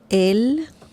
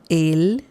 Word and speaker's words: él: Or él, it's the same pronunciation, by the way, with the accent mark and without the accent mark. It's the same pronunciation. Él.